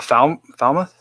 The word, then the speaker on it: Falmouth: Someone was saying something about the Falmouth.